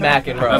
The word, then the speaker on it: McXro: So, Mack andro first time I heard that it's pronounced like the tennis the tennis pro but it's yeah